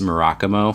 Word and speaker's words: Murakumo: least 10 years pronounced maracas mo for us the main thing that he pointed out is that there actually is not any accentuation on any of the syllables so you should pronounce